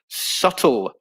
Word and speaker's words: subtle: p is not pronounced subtle is a very good one julie um yeah there's no b pronunciation is a uh in subtle so a silent b and subtle action says alice action